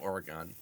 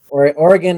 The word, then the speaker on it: Oregon: the west coast man Oregon is how they say it north or guys like I want to go I want to play Oregon trails yes that is that is how you say it in Ohio or at least that's